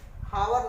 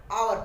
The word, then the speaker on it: hour: हावर नहीं पढ़ेंगे, आवर पढ़ेंगे, क्योंकि यहाँ पर एच साइलेंट है।